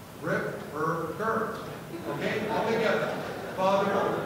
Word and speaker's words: Ripperger: Let me pronounce his name for you. It's Father Ripperger. Ripperger. Okay? All together. Father Ripperger.